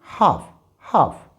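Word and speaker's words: half: यहाँ पर L silent होने की वजह से इट विल बी हाफ।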